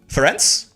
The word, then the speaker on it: Ferenc: The pronunciation for the C is like ts and rents. Ferenc?